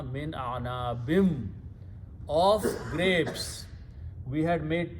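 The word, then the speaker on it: مِنْ أَعْنَابٍ: When you pronounce with the vaw, it becomes gunna, min a'nabim, of grapes.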